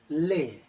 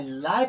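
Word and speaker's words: lay: ले। अगर एल ए वाई ल पढ़ते हैं तो क्या होगा? गलत होगा। लेकिन इसका सही होगा ले।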